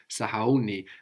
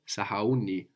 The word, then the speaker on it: sahauni: Sahauni. And it moves the accent. No. Sahau. Sahauni. We always have the accent on the penultimate syllable, the second last syllable in Swahili.